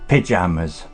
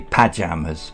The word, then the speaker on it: pyjamas: Yeah, it's pronounced pyjamas. Pyjamas. The Americans say pajamas, but in England we say pyjamas.